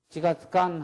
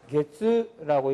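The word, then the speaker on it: 一か月: 이치가츠간 하면 안 되고 1개월 이렇게 해야 돼요. 어떤 거에는 표기가요. 이렇게 되어 있는 사람도 있고요. 또는 가타카나로 이렇게 써놓는 사람도 있어요. 다 같이 뭐냐? 이치가 초금이 되고 it가게츠라고 읽어줘야 돼요.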